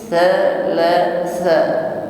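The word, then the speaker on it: ثلاثة: Min najwa thalathatin, thalatha, ya, pengucapan huruf ta dimulai dengan ujung lidah bertemu gigi seri atas, sifatnya hamas saja, disertai dengan angin nafas, bukan disertai dengan bunyi desis.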